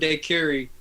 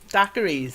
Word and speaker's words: daiquiri: I don't know what that means. Daiquiris. Oh, Oh, daiquiris. daiquiri. I can get involved with that. Daiquiri. I thought that was I like knew I some. wasn't pronouncing it right.